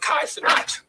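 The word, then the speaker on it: Kai Cenat: of people were watching him live streaming with Kai sonat That's how you pronounce his name Kai sonat right sound right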